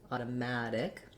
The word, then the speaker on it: automatic: Then we get to our stressed syllable. Here's where we're going to be long. So short, short, long, automatic.